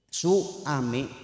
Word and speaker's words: suami: jangan muncul wau maftuhah kadang-kadang kita tidak sadar suami apa suami ada w-nya enggak ada enggak y su su a mi apa su wa mi sekalipun tidak ada w-nya suami dibacanya suami tetap aja betul enggak itu adalah suara yang muncul akibat pertemuan antara a dengan u maka takbir pun sering